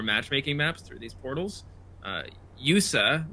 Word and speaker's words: YU7A: Yusa, which is how you pronounce the guy who made the hub, YU7A. Weird.